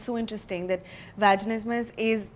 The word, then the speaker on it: vaginismus: conversation with a bunch of my friends about vaginismus. What is vaginismus? So how do you pronounce it?